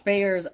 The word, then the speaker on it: Bayer: Josh Bayer. Wow. Unended. Interesting. Also, it is Monty's Pick of the Week. All right. Woo! Rhymes with Slayer.